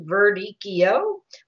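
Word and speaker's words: Verdicchio: and concentration to happen so radicchio is pronounced Verde Keo and castello de Hesse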